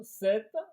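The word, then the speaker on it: sept: Alors le 7, on prononce 7 mais on écrit pas pareil, on écrit S e P t.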